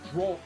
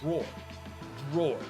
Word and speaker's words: drawer: I say draw, but you don't. I say drawer. It's one syllable.